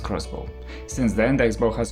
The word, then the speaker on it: X-Bow: its first ever car the ktm expo pronounced crossbow since then the xbox